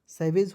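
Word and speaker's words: savage: और SA है ना जी, तो इसका उच्चारण सै के रूप में करते हैं, सैवेज हो गया।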